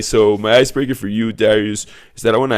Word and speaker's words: Dariuš: introduce to the show Darius bevus did I pronounce that right Darius yes man it's a hard name but man